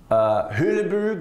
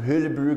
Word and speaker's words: Hulebrug: Hulebrug, that's how you pronounce it in Belgium, Hulebrug, a project that I did with Leon Creer when I was at DPZ, looks like Belgium.